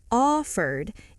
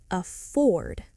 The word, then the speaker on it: afford: This is a very common word in money conversations and it's important to stress the second syllable. Not offered, it's afford.